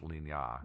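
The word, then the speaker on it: Lignières: It looks like it's spelled like Lignieres, but it's actually pronounced Ligna. Yeah, because it's French.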